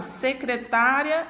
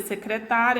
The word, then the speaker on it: secretária: Se eu mudar a acentuação aqui gráfica, né? Se eu retirar essa acentuação gráfica e você observa que a sílaba tônica ela muda de posição, há uma mudança também de significado, porque secretária é uma coisa e secretaria é outra.